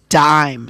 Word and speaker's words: dime: Now, this word looks like dim, but then it's got that silent e at the end, which changes this from a i to a i sound.